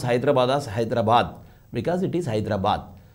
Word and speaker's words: Hyderabad: how do you pronounce hyderabad a telanganite will pronounce hyderabad's hyderabad because it is hyderabad but in andhra they call it as hydra bad hydra bad what is this it is not